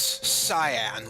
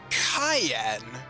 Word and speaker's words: Cyan: So, the name here reads cyan, like the color. So, yeah, the thing is, though, in Japan, his name is Cayenne, which is, kind of like the cayenne pepper. So, I think either pronunciation would be good. However, I would kind of prefer Cayenne.